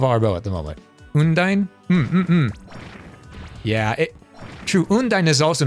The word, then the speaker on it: Undine: I've heard Undine pronounced multiple ways. I say Undine, but some people pronounce Undine's name Undini.